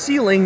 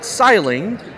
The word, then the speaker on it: Sealing: So it's pronounced Sealing, not Siling.